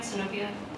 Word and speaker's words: Sinopia: Did I say that right, Sinopia? Okay, I have the accent on the right syllable.